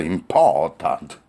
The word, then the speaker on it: important: 그 다음에 important와 decision에 im과 ont도 important 네, important. 여기서 T 발음을 안 했죠.